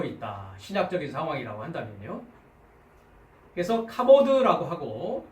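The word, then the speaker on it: כָּבוֹד: 그래서 카보드라고 읽습니다. 카보드.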